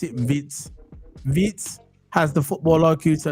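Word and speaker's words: Wirtz: It's not Vert, you know. It's Vitz. That's how you pronounce it. Vitz.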